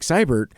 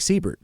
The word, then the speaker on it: Seibert: I post as, Seibert, most people pronounce my name incorrectly, call me Siebert.